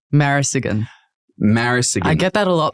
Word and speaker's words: Marasigan: pronounce the last name marisigan I get that a lot people are like how do you pronounce your name but if you literally read it how it is again then it should